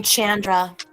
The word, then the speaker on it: Chandra: And you pronounce her name Chandra, like Sandra.